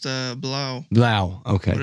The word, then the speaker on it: Blau: It's German so it's pronounced Blau.